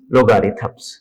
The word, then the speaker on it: logarithms: हैं unit number 3 लोगारिथम्स। Student, इसकी सही प्रोनाउंसिएशन है लोगारिथम्स, लोगारिथम्स नहीं, यानी कि